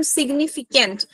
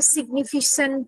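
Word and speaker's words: significant: বা সেটা point out করতে পারছি না কয়েকটা প্রোনাউন্সিয়েশন ঠিক করতে পারো যেমন সিগনিফিকেন্ট তুমি কিছু একটা সিগনিফিসেন্ট এরকম উচ্চারণ করছিলে যেটা একটু কানে ঠেকছিল ওটা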